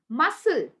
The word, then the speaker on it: muscle: where C is silent whenever C comes after s it becomes silent when C comes after s for example muscle muscle right and also scissor